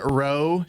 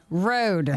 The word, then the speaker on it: row: is what uh it's a hard row to hoe not road yeah which it actually is nice because it rhymes so it helps you remember it well keep saying